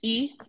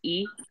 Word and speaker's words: Ehea: It's just E. It looks very confusing, but it's just pronounced E.